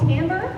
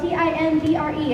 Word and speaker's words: timbre: Every instrument has its own tone quality, its own sound, its own what we call timbre, which is spelled T-I-M-B-R-E, its own timbre.